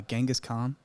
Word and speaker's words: Genghis Khan: do you actually say this first name uh Genghis Khan that you said it right okay not ancient